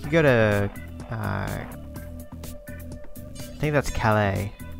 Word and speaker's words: Calais: to I think that's Calais I don't think that's supposed to be pronounced callous which is I want